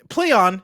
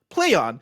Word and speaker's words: Plaion: up in the article play on is pronounced exactly as you would expect like play on a phrase they hope evokes both